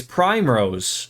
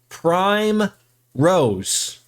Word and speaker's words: Primrose: getting the name wrong it's Prime Rose okay Prime Rose sakes